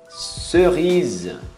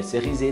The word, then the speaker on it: cerise: Cerise. Cerise. É um Z, não é cerise, não. Cerise.